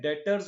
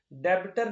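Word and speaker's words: debtor: तो अभी शुरू करते हैं डेटर क्या होता है भाई? अच्छा ये जो वर्ड है ना डेटर इसमें बी साइलेंट होता है। ध्यान रखना। डेबिटर नहीं पढ़ते इसको। ये होता है डेटर।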